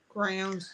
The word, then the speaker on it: Grounds: Grounds, GROWNS. Well, Geneva said when you say Kevin, I think of Hidden Heights Farm. Right, That's yeah. understandable too. Rhymes with crowns, G grounds.